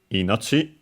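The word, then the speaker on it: 命: Pretty sure it's an accented word, but of course. Never hurts to check. Yep. Inoi accented on the first one.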